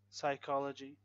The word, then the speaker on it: psychology: Silent P in words like receipt, receipt, psychology, psychology, psychology, and psycho. Silent S in words like island, island, debris, and aisle, aisle.